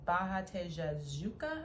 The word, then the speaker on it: Barra Tijuca: I'm gonna butcher the name, but it's Barra Tijuca, I think is how you pronounce it.